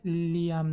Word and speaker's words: Liam: Oh and also my name is pronounced like Liam not li.